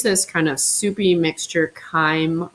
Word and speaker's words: chyme: kind of soupy mixture chyme rhymes with time and it will get